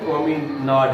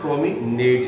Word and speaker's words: promenade: Obviously, बिल्कुल वाजे तौर पर, enjoying his promenade या promenade, ब्रिटिश प्रोनाउंसिएशन जो इसका है वो promenade है, और अमेरिकन promenade है.